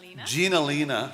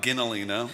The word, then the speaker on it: Ginalina: It'll feature, how do you pronounce that? Gina Lena, not Ginalina.